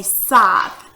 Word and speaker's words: scythe: It's called, I think you pronounce it a scythe. I'm not sure if it's a scythe or what, but it's kind of spelled differently. It's spelled S-C, well, let's see, you might can see it up here somewhere. Right here. Here's the word right there. S-C-Y-T-H-E, a scythe.